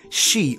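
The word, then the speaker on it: sídhe: The various spelling and pronunciation of the word for fairy mound referred to the otherworldly realm, which in Irish referred to as she or sidhe.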